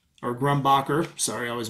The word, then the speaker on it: Grumbacher: with some other charcoal this is just uh grumbrocker or grumbacher sorry i always mispronounce that extra soft vine charcoal here some